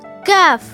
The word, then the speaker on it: ك: The letter Kaf has a thin sound and different from the letter Qaf, which has a heavy sound.